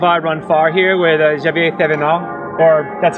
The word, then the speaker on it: Xavier Thévenard: Brian Pavlov, I run far here with Xavier Thévenard, or that's how I would say it in English. What is your name? Quel est ton nom en français? Tu peux le prononcer en anglais. Xavier Thévenard.